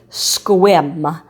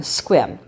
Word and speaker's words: Sequim: to get there it's a town called squim and it's spelled s e q u I am squim and every year in